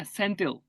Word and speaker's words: Senthil: Yeah, Senthil.